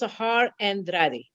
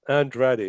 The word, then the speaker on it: Sahar Andradi: Our very special guest today is Sahar Andradi. Now, please tell me if I mispronounced that. Actually, it's correct. It's Sahar Andradi. Yes. Andradi.